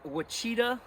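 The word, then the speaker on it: Ouachita: adventure trail in uh the wichita national forest i think is how you pronounce it but it's spelled with an o not with a w i call it the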